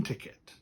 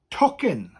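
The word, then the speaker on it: tocyn: a train ticket now ticket in welsh is talking talking talking i like talking in english talking but you will hear some people anglicize it and say ticket you will hear that but talking is the more correct word right i'm going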